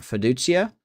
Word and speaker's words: Feduchia: We'll put Hen Hunter Feduchia, that's how you say his name, in here.